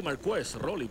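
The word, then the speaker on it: Marquess: Estados Unidos Mar Mar lo pronuncian aquí mar rly pero se escribe si fuera como nosotros españolo sería Márquez efectivamente la única diferencia Es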